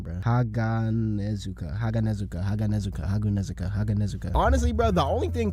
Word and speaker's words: Haganezuka: Honestly, bro, the only thing colder than Muichiro's performance in this episode gotta be Hazanegu. Oh, how do you even say his name, bro? Haganezuka.